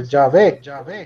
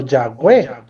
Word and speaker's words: Yahweh: Ya, entonces en ese sentido se le agregaron las vocales y quedó Yahvé o Yahweh. Esa es la pronunciación más acertada que hay.